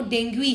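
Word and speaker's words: Dengue: वैसे ही वो डेंगू नहीं है, वो डेंगुई है, राइट।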